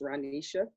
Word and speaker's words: Ranisha: My name is pronounced Ranisha. Although it looks like it's spelled, it's Ranisha.